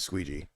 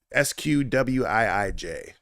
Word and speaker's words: SQWIIJ: I don't think it's Squeegee. SQWIIJ is how you say his name.